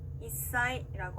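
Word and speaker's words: 一歳: 자, 단어로 살펴보면요, 한 살이라고 일본어로 말할 때는 이사이라고 하는데요. 자, 사행 앞에 스가 왔기 때문에 사의 영향을 받아서 시옷 받침처럼 발음이 납니다.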